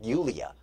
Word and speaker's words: Yulia: She's going to call herself Yulia, because that's actually how it's spelled and how it's pronounced in her family.